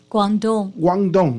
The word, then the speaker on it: Guangdong: How you pronounce it? Guangdong.